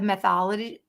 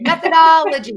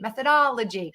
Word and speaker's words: methodology: a moment we'll also talk today about the mythology mythology i can never say that word jasmine don't make fun of me methodology methodology there it is i always say it